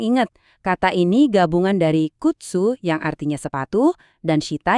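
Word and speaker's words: 靴: Dalam bahasa Jepang kita sebutnya kutsu. Dibacanya kutsu. Coba deh ikutin saya.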